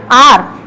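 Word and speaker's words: hour: यहां हम इसको बोलते हैं आर, यहां पर एच जो है वो साइलेंट रहता है, तो यहां हम इसको बोलते हैं आर। इसको बोलते हैं ऑनरेबल और इसको बोलते हैं ऑनेस्ट। तो यहाँ पर हम एच को प्रोनाउंस नहीं करेंगे, यहाँ पर हम एच को प्रोनाउंस करते हैं लेकिन यहाँ नहीं करते।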